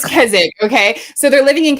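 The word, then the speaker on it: Keswick: live in places like say Kzik because it's pronounced Kzzik, not Kezwick. And I'm not certain why. We need to have a whole conversation about that. So, I can't get my quesadillas with gelapos. It's kzzic.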